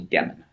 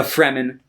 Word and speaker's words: Fremen: the uh the fremen i always want to call them the demon that's like that's not right uh the fremen who uh live on